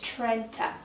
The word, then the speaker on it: Trenta: so first of all it's Trenta not Trenta Trent trena Trina it's Trenta okay I'm just going to leave it there not going to go into any more detail it's Trenta then we have machiato